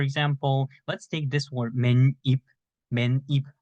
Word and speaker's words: 맨입: You can say 맨입, but we write 맨입, but we pronounce 맨입. So as you can see, we don't write two 니은, right? But we just pronounce as if there are two 니은 here.